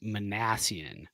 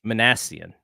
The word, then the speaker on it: Minasian: get the pronunciation wrong it is manassian manassian yeah so Zach manassian um